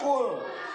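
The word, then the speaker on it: قُلْ: Misalnya qaf, doma, lam sukun, dibacanya qul.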